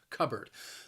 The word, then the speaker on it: cupboard: usually has shelves cupboard the word has two syllables and the stress is on that first syllable cupboard notice that the word is spelled with the p but when i say it it sounds a little more like a b sound cupboard cupboard and the